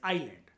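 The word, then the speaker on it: island: बता रहा था कि आइलैंड को हम जो लिखते हैं वो इजलैंड की फॉर्म में लिखते हैं। लेकिन एस उसमें अंदर साइलेंट साइलेंट होता है। एस जो लेटर होता है वो साइलेंट होता है। तो जो फिनेटिक साउंड निकल कर आती है दैट इज आइलैंड क्योंकि एस वहां पर साइलेंट है।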